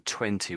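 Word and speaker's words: twenty: And I think the T in 20 was just missing, but you sort of said it the way a lot of Brits would say it. So a lot of Brits would say that. So I think you missed out the second T.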